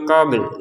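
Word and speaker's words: قبل: Min qabl, lamnya tetap dibaca ya. Qabl. Jadi kalau misalkan nggak ada lam ya, misalkan qob seperti ini ya, kita bacanya qob seperti itu. Karena ada lamnya terbacanya qabl. Qabl. Jadi ada pantulannya, ada lamnya, gitu ya. Tapi jangan terlalu ekstrim qabl ya, jangan, karena tidak sesuai kalau seperti itu ya.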